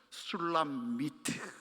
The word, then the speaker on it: 술람미트: 이게 원어적인 발음은 이렇습니다. 술람미트.